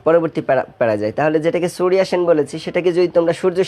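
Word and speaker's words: Surya Sen: দেখো আমি উচ্চারণটা করেছি সুরিয়া সেন। মূলত বাংলায় যেখানে আমরা অন্তস্থ জ ব্যবহার করি সেখানে ইংরেজিতে ওয়াই ব্যবহার করা হয়ে থাকে।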